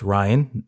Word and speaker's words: Rian: the director Ryan Johnson it's Ryan not Rion that's how I've